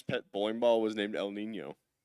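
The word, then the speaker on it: El Niño: Uh, it's actually pronounced El Nino. Uh, it's like Spanish for the little boy.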